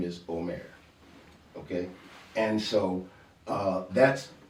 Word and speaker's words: Homer: before him Homer but remember that isn't an H that's aah so his name is actually Omare om Omare but since